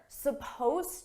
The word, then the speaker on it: supposed: to now notice here supposed to suppose is spelled with an ed it's an ed verb but you don't hear it at all it's supposed to supposed